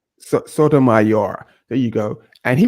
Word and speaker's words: Sotomayor: uh how do you say his last name Sotomayor Sotomayor there you go and he was on the